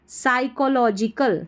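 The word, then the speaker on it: psychological: आई एथी ethical ethical यहां पर पी और एस जब साथ में आता है तो पी साइलेंट रहता है तो इसको पढ़ेंगे साई को सी एच ओ को लो एल ओ लो जी जी जी आई जी और कल साइकोलॉजिकल साइकोलॉजिकल पी साइलेंट है इसमें एंड एंड यहां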